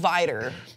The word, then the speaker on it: Vidor: I have heard it pronounced by people from the South as Vidor.